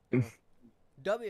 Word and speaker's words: Dubby: Oh god, I said Dubby instead Doobie. Shit. Oh well. Potato, right? Dubby is how it's actually pronounced. I call it Doobie though.